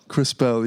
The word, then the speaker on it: Krispel: The last name's pronounced Krispel? Krispel, yeah. Where's it from?